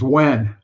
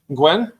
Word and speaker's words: Wen: His last name's Wen. Gwen? Wen. Gwen. Oh, okay. I know it's spelled It sounds like WHEN.